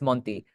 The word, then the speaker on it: Monty: Yeah, it's it's pronounced with a Spanish accent, but you were close enough. Um, it's Monty.